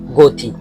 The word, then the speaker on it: গতি: যেমন যদি আমি যদি বলি গতি গতি গিয়ে সেখানে অধনি গোপন অবস্থায় উচ্চারণ হয়েছে। সরবর্ণটি গোপন অবস্থায় উচ্চারণ হয়েছে। এক্ষেত্রে গ এর পাশে আমরা ওকার বসাইছি।